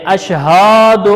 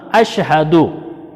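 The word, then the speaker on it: أشهد: غلطی کی جاتی ہے، اشہاد اللہ، اشہاد ہا کو لمبا نہیں کرنا، اشہد ان لا الہ الا اللہ، اس طریقے سے پڑھنا ہے۔ اشہد ان لا الہ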